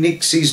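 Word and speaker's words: Nyxie: two cats, Daphne and Nixie. But please don't worry about mistaking Nixie's name for Trixie. It's an easy mistake to make, but I know you now know it's Nixie now.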